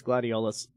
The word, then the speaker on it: Gladiolus: It's Gladiolus. So it's like Areola, but Gladiolus.